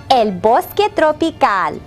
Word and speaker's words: el bosque tropical: You will probably recall that rainforest in Spanish is el bosque tropical.